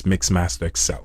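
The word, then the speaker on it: MixmasterXL: Facebook, uh YouTube, Instagram, Tik Tok X, it's Mixmaster Excel, spelled just like it pronounced.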